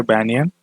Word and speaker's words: banyan: ठीक है, तो आई होप ये चीज़ समझ गए आप कि आप इसे किस तरीके प्रोनाउंस करेंगे। बैनियन, बैनियन ट्री है और एडवेंटिशियस प्रॉप रूट्स होती हैं।